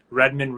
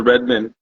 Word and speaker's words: Redmond: ask um for the Redmond how do you spell you know spell that is it like red man like the hip-hop artist like Redwood not like the hip artist um it's r-e-d-m-o-n-d it's